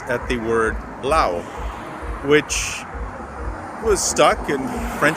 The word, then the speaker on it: Laos: a country so uh back in 1893 a nation called France decided to colonize this country called Lao but the French being what they are decided to put a solent s at the word Lao